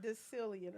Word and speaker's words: decillion: decillion, I like that because it rhymes with billion and million.